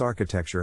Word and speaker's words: architecture: Phonetic Alphabet to pronounce architecture have in mind that the size of the syllable indicates where the accent or stress is in this case the accent is in the first syllable corresponding to R uler